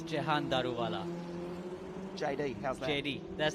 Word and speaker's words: Jahan Daruvala: It's Jahan Daruvala.